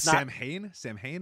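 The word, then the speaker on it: Samhain: And it's Sam Hain, I believe is what it's called. I don't know what's the I don't know what that is, I guess. It's not pronounced how it's spelled.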